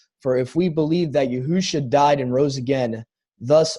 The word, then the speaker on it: Yahusha: For if we believe that, and you pronounce just Jesus, or is there another way you pronounce that as well? Yahusha. Yeah, Yahusha.